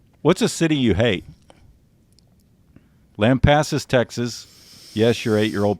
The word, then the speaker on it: Lampasas: Lampasas, Texas. Yes, your 8-year-old pronounced that correctly.